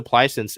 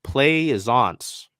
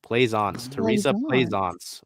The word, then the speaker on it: Plaisance: Teresa Plicence is listed as a forward, so maybe her. She's 6'5". So I mean, maybe Plicence. Oh, wait, right, yeah. Hold on. The pronunciation guide is Plaisance. Teresa Plaisance.